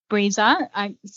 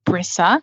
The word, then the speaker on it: Brisa: to get it wrong so yeah it's it's pronounced breezer breezer um but often people say brisa because that's how it's spelled b-r-i-s-a um breeza